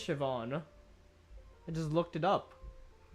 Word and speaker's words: Siobhan: a Ruckus was shiban is it shivon sopan shivon I feel like is it Shon is it actually pronunciation wow you are absolutely right it is Siobhan I just looked it